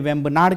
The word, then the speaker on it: वेम्बनाड: जी हां, वेम्बनाड झील, कहीं कहीं वेम्बनाड लिखा होता है, कहीं कहीं वेम्बनाद लिखा हुआ होता है, इंग्लिश के प्रोनाउंसिएशन में वेम्बनाड कह देते हैं।